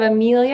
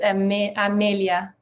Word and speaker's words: Amelia: It's just, instead of Amelia, it's Amelia. Is it French Amelia, or is it?